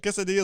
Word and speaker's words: quesadilla: got the Double L the U is silent and a double L is pronounced like a like a y sound guess so let's look